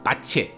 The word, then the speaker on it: Bach: 真的讲，其实他要念成 Bach，一开始写 Bach，但是因为他是威尔斯人，所以这个字用英文念可能是念 Bach，但是用威尔斯话要念成巴奇 Bache，但是不是重